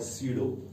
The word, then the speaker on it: pseudo: This actually P is silent here, so this is called स्यूडो।